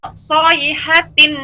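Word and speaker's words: صيحة: Yahsabuna kulla sayhatin alaihim.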